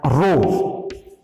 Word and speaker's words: rho: और specific resistance का जो सिंबल होता है वो होता है रो, RHO, ये इसका प्रोनाउंसिएशन है RHO, रो ये इसका सिंबल है,